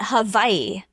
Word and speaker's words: Hawaii: Um, they say Hawaii, right? That's how they say it in Hawaii. They call it Havaii.